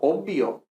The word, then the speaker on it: obvio: normalmente se pronuncia con 2m es inmortal incluso obvio que se escribe bv pero lógicamente se pronuncia con dos